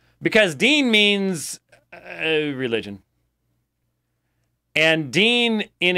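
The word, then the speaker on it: Deen: program it's called the Dean show but it's spelled de en it's not that you know the host isn't named Dean DEA n like Dean Martin so why is it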